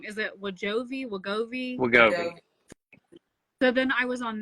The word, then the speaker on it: Wegovy: I always pronounce it wrong. Is it Wegovy? Wegovy? Wegovy.